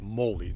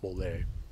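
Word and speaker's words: mál: noker orthen authino mole the biggest problem here is the accent the stress which in that last word the accident all words and old narcissists on the very first syllable so it's Molly not mole I guess it's any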